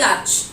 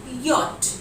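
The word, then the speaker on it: yacht: The correct pronunciation for वाई फॉर याच इज नॉट याच, बल्कि it will be वाई फॉर यॉट। Correct उच्चारण क्या होगा इसका, याच की जगह इट विल बी यॉट।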